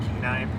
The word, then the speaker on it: Kenai: down in here but yeah we're at the Kenai Peninsula am I saying it right yeah all right keenai Peninsula keenai Peninsula and this is an undisclosed